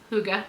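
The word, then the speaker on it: hygge: dress this is cozy this is kind of Huga that's h y g g e in case you don't know how to pronounce that word it's pronounced Huga which is I think just basically Norwegian or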